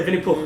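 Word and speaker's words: Винни-Пух: Yeah, Vinny Pooh. It means like Vinny the Pooh in pronounce the Russian. H? So it means that's how you say it in Russian.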